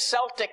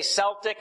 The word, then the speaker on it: Celtic: When he went out there, he massacred all these Celtic Christians. You say Celtic or Celtic, you can pronounce it either. I've heard it pronounced either way.